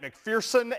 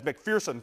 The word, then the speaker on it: McPherson: fitch then this is matt mcpherson emphasis on the syllable fierce as mcpherson throws that in very